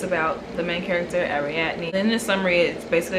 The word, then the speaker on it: Ariadne: So okay, I looked up how to pronounce this last night. Let me see if I remember it. Okay, Ariadne.